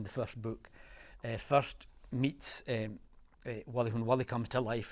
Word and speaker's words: Wally: My name's Wally, which rhymes with gully, which is something that is dark and deep.